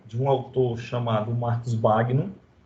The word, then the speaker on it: Bagno: A pronúncia original do nome dele é Bagno, né? Porque esse Bagno é do italiano, mas a gente vai chamar aqui de Marcus Bagno, tá bom? Vamos aportuguesar a pronúncia do nome dele, tá certo?